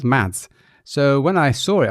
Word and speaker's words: Mads: There's a lot of famous Danish cyclists which are called Mads. And Dutch Dutch announcers just say it as Mats.